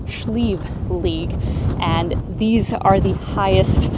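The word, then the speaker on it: Sliabh Liag: In English, it's usually pronounced Sleeve Lee, but here in the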